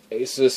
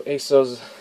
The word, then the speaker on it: Asus: back you can see Asus or Asos logo way you want to pronounce it here at the